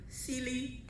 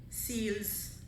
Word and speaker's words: Seale: Trinidadians usually see S-E-A-L-E and pronounce it either Seale, Seals. I usually say, stop, singular, Seale, Seale.